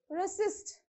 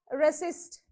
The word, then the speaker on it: resist: stress on t continue resist resist so r no stress from s you have to use a stress so resist exactly exactly so you have to use on the second syllable endeavor and either so